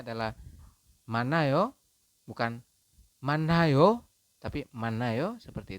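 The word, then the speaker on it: 많아요: Kemudian yang bawah pun sama, yang ini kita membacanya adalah manayo, bukan manayo, tapi manayo, seperti itu ya, teman-teman.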